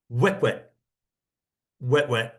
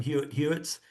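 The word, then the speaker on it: Huet-huet: It's actually kind of pronounced chestnut throat. Wet wet wet. Uh when I went into this trip, I was calling them Hu Hwitts.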